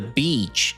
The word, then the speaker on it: beach: The EA in beach makes a long E sound, like in see or we. We went to the beach yesterday.